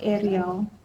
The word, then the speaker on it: Ariel: We have the Strength card, and this is Archangel Ariel. I guess you pronounce it the same as you would Ariel from the Little Mermaid.